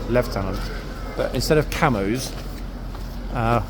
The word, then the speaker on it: Lieutenant: rot and always saying Lieutenant which is a US pronunciation even though I know for well it's left tenant but instead of camos